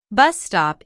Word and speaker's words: bus stop: used to check information bus stop is a compound noun with the main stress on the first word o is an exclamation